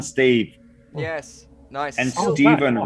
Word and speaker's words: Stephen: And Oh, Stephen wow. rhymes with 7, so.